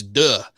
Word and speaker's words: Deux: It's Deux. It's duh. Anyway, it's a French word.